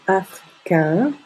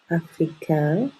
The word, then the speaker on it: africain: les nasales comme dans africain africain on ne prononce pas le N et la bouche est plutôt fermée donc au féminin on